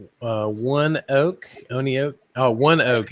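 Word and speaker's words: ONEOK: Oh, one oak is the pronunciation. Okay. So, one oak. Okay. So, it's not on oak, it's one oak.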